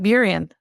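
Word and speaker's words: Burien: that's right on the water in I'm gonna pronounce wrong buan buan that's right buan first buan there you go I'm getting I'm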